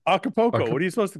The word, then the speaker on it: Acapulco: Did you pronounce the L? Yeah, yes. What do you say? Poco? Yeah, I didn't. Poco. Acapulco.